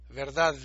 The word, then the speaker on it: verdad: O sea, en Colombia mucha gente dice verdad, y pone fonéticamente ponen una T al final. Pero, o sea, si uno la pronuncia bien, verdad.